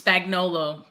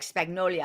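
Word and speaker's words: Spagnuolo: or not Steve Spags, I don't always forget how to say his name, Spagnolo, what's Spagnolo. It's spelled like Spagnolo. It's so weird, right? But it's Spagnolo. And then, like, as a Latina, I always want to say like Spagnolia.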